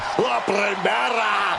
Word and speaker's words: La Primera: You need to roll your R's a little bit on that, man. La Primera.